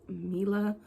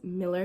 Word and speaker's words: Miller: Hey y'all, it's your girl Miller, pronounced like Miller. A lot of people think my name is pronounced Mila, but it's Miller, like Miller Lite, like the beer.